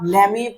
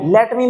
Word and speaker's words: lemme: कि नहीं हुआ ठीक तो क्या बोलेंगे आप ले मी play cricket लेमी लेट मी मत बोलना क्या बोलना है ले मी प्ले